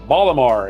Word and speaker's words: Baltimore: The most decorated Olympic athlete with 28 medals was born up there in Baltimore. Baltimore as they call it up there in Baltimore, Maryland. They don't pronounce the T.